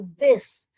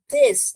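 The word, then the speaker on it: this: इसे हम दिस थिस ऐसे जीभ रख के बोलिए तो करेक्ट प्रोनाउंसिएशन आएगा।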